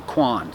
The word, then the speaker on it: Qohn: to find another that has the first name Quan spelled with a q o h n last name